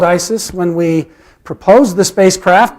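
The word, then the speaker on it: IS☉IS: slip of the tongue it was initially called Isis when we proposed the spacecraft back in 2010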